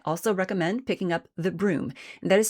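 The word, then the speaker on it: Brume: I also recommend picking up The Broom, and that is spelled B-R-U-M-E, because it is a ghostly, foggy figure.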